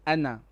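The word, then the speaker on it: أنا: a verb but here anna on its own is short we do not pronounce the alif okay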